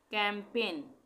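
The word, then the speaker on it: campaign: इसके बाद आता है कैंपेन, यहाँ पे भी जी साइलेंट हो जाएगा, कैंपेन, जी का उच्चारण नहीं हो रहा ना।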